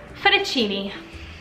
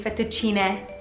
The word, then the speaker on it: fettuccine: but a Cheney alfredo fettuccini wrong its bet to Gina it's a feminine word so it end and it's plural right because there's more than one pasta strand so it's 50 G meg you've been saying the wrong guys it's no longer for the Cheney alfredo it should be fettuccine alfredo Janaki organ Aki but